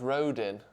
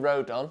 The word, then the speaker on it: Rodon: get with every transfer it's pronounced Road in I can't do this anymore I'm going Road down because the Welsh guy said it was Road up so that's what I'm